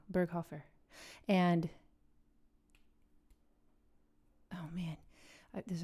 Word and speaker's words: Berghofer: Bergenhofer. It's wrong. Berghofer.